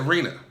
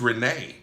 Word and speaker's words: Renee: Last week I said Rena, but it's spelled I made that mistake because it's spelled a little bit different than it is, but it's Renee.